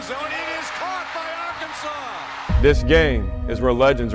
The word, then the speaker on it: Arkansas: I got that wood and that's how you pronounce it ain't Aran it's Arkansas baby this is where you cement your legacy